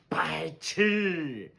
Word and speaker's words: 白痴: The first character is 白. It has a second tone made up of the initial 不 and final I. Put them together, pronounced 不爱, 白, 不爱, 白, 不爱, 白. The second character is 吃. It has the first tone. It's a ready-made syllable, pronounced 吃, 吃, 吃.